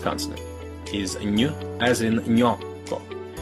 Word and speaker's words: gnocco: your tongue doesn't just move towards the roof of your mouth, it actually touches it, stopping the airflow and forcing the air to come out your nose. Ny, gnocco. You get that quick y sound at the end as soon as your tongue moves on to pronounce the next vowel, gnocco.